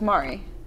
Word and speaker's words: Maury: Same spelling, same pronunciation. So. Okay, so it's Maury. Maury.